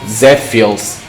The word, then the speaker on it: Z-Phils: It's pronounced Z-Phils, like the anime robot, you know.